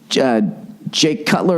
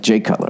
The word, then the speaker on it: Jay Cutler: Jake Cutler. Is it Jay or Jake? Jay Cutler. That's right. Jay Cutler, right?